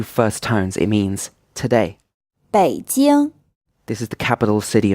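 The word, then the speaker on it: 北京: tones it means today bei deal this is the capital city of China it's pronounced with a third tone than a first time choose it now if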